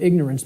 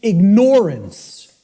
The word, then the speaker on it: ignorance: us, of the word ignorance, because of the way it's pronounced. I tell people, start pronouncing it ignorance. Ignorance. Then people will hear the word ignore in it, and the connotation becomes clear.